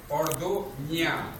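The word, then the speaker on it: Orduña: Orduna, like España, like piña colada.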